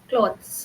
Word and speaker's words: clothes: When we have cloth c o t h cloth singular then we say o cloth but when we are saying plural clothes then it'll be o sound long o sound.